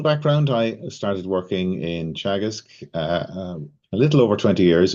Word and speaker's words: Teagasc: But just by means of introduction, Teagasc is the Irish Agriculture, Food and Development Authority, and it's pronounced Teagasc.